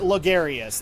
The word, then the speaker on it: Logarius: i'm gandalf the skeleton martyr logarius that's how it's said why does everyone have